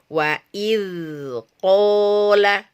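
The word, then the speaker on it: وإذ قال: Za wa id qala, bukan wa id qala tapi wa id qala, tapi dia harus bersambung langsung ya dengan huruf yang berada di depannya. Jadi tidak terputus ya ketika kita membacanya ini karena dia harus mengalir. Wa id qala, bukan wa id qala.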